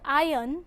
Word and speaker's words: iron: In the word iron, the letter R is silent.